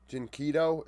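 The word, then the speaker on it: dyNquedo: Jinkedo is how we pronounce this fella's name.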